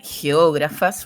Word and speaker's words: geógrafas: Ya les voy a preguntar de la importancia de ser geógrafas, porque hay que poner acento en esa A.